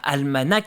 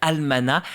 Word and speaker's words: almanach: la Vendée et oui ça ne se prononce pas almanach c'est bien almana à l'intérieur des jeux